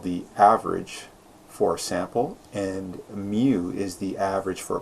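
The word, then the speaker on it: μ: or looks like a little weird you it's pronounced mu so it's referring to an entire population so x-bar is the what's called the average for sample and mu is the average for a population and it's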